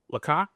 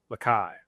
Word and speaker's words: Laika: It's Laika. Laika. Lakai. Spell it again. Laika. Can you use it in a sentence? Laika, the dog, flew into space. L-A-K. Laik. L-A-I-K-A. A. I keep thinking Lakai? Laika. Light? Laika.